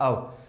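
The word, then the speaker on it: of: ऑफ बोलते हैं और ये ओ एफ जो रहता है इसे आमतौर पे बोला जाता है सही उच्चारण प्रोनंसिएशन इसका रहता है अव पर अपने ऑफ चलने दो कोई नहीं बुलवा के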